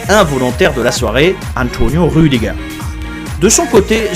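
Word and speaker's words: Rüdiger: de la soirée Antonio rudiga de son côté son nom se finit qui en allemand se prononce a comme dans bar ou comme dans TER mais sûement pas comme dans Be concernant les deux autres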